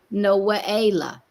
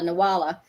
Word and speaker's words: Nawala: Well, it's actually the way that it would be pronounced is more of a Noaela. Noaela. Yeah, Noaela. Noaela. And then when you look at it, everybody says, "Oh, Nawala."